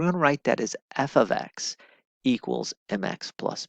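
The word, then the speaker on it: f(x): do by the way this is pronounced f of X so f of X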